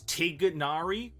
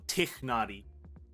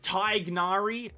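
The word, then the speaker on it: Tighnari: while tignar moment listen there's only two ways to pronounce tignari and it's teganari or tikhnari right you either have the G or you don't have the G it's that simple right there are some Thai gnari no dude no tiger nutted relax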